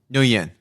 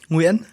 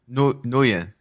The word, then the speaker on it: Nguyen: Wait, how do you say that last name? Nguyen. Oh, no. It's a wrong pronunciation, so I would prefer you stay with N. Call me N. N? Okay. Yep. Okay. Did he pronounce it correctly? No, absolutely not. Can you say it? Nguyen? Now it's correct. Nguyen. It's just too hard to pronounce in English, so...